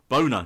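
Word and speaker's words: Bohner: real name is Ralph Boner. He said Boner. It was Ralph Bonner, wasn't it? Boner. No, it's Boner. She pronounces it Boner.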